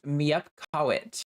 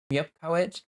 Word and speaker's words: mupit: word from Raven uh pronounced mupit mupit uh the NES Pur singular word for a baby or infant YX Colo that is